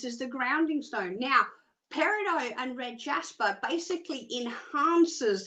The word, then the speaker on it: peridot: Okay, yeah, I know it doesn't, it's spelt weird, but it's pronounced peridot, and it is about teaching you.